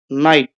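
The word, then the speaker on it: night: आगे है नाइट। नाइट हम ऐसे लिखते हैं। नाइट में भी जी साइलेंट है।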